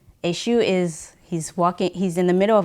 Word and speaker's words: Eshu: The story about Eshu is like, am I pronouncing it right? Eshu.